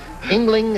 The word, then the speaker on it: Ingling: Ingling, is that the way you say your name? That's right. Ingling. Just like it's spelled, very simple.